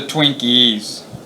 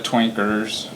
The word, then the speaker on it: Twinkies: They're the Twinkies, not the Twinkers, from Northern California, and